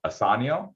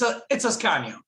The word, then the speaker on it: Ascanio: Asanio, is that how you pronounce it? It's Ascanio. It's Ascanio, Ascanio, but great.